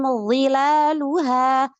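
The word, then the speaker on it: ظلالها: Contohnya harusnya pada kata wadaniyatan alaihim dhilaluha, dhilaluha. Dia membacanya begini. Wadaniyatan alaihim dhilaluha, enteng aja. Ini jelas kan suaranya dzal.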